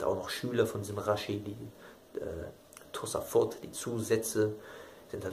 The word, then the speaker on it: Rashi: Shlomo Yitzchak oder Shlomo Ben Yitzchak, die Abkürzung Raveni oder Rabbi Shlomo Yitzchaki, Reshin J geschrieben, Rashi ausgesprochen, der da im damaligen Frankreich,